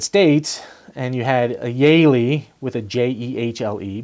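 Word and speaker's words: Jehle: j-e-h-l-e but was pronounced yaylee so when they got to the united states and you had a yaylie with a j-e-h-l-e because the j's were pronounced like y's they're like you know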